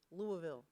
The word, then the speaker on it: Louisville: Oh, we absolutely love, let me say it correctly, Louisville.